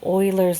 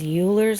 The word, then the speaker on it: Euler's: And that special line is called Oilers's line. I know it looks like it says Ulers's line, but it's pronounced Oilers's line.